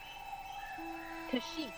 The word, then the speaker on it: Kashyyyk: space motors welcome to the wookie home world kashyyyk right that is the official pronunciation just remember that okay get ready for